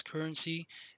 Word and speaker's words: CRNC: the cryptocurrency called CRNC, pronounced as currency, an utility token run on Ethereum ERC20 tokens.